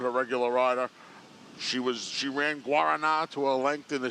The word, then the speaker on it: Guaraná: She ran Guaraná to a length in the CCA Oaks last year. It's Guaraná.